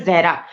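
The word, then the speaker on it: ज़हरा: Actually मेरा नाम जो है जहरा, तो मोस्टली जो नॉन मुस्लिम्स होते हैं वो प्रोनाउंस नहीं कर पाते, वो जारा बोल देते हैं, ठीक है.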